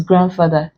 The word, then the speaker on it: grandfather: and then this is Grandfather D is pronounced in grandfather unlike Grandma and Grandson and Grand what have